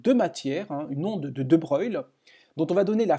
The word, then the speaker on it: de Broglie: Alors De Broglie, en réalité, ça se prononce De Broglie, et donc le nom complet c'est De Broglie.